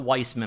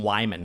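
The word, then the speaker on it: Weimann: strange they're from jason it's not weissman i said it wrong last time but it's jason jason what jason wyman so not weisman wyman he's another youtuber focuses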